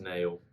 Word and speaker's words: Nale: So we noticed that Nale's there, and some people are telling me that his name's pronounced Nail, but I think I just much prefer Nale, so I'm going to stick with it.